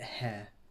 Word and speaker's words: Heir: for me to pronounce it's the midnight hair like the the hair like an heir to a throne it's not like air or you know it's not like breathy air or hair it's the midnight air